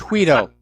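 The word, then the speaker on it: Guaidó: Well, actually, unfortunately, the G is pronounced as an H. It's Guido.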